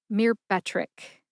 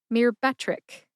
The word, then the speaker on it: Myrbetriq: Put all 3 of those syllables together and you get Myrbetriq. Emphasize that middle syllable, be. See if you can hear the emphasis when I say it again. Myrbetriq. Myrbetriq.